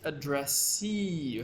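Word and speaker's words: addressee: examples address you see address you have to say the E very long e okay addressy this word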